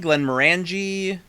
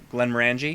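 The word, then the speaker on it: Glenmorangie: Glen Morangi. Say how I just said it. Glen Morangi. Glen Morangi. Glen Morangi. Like orange. Think of an orange and that's how you say it.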